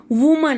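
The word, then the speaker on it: women: वुमन, तो जिसकी pronunciation भी देखो, वुमन इज a single person. वुमन, विमेन, तो प्रोनाउंसिएशन भी चेंज हो रही है, विमेन.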